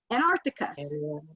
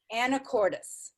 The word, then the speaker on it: Anacortes: Her daughter is up there where she is in, let me make sure, I always say this wrong, Antarctica, Washington. Anacortes. I knew I was saying it wrong.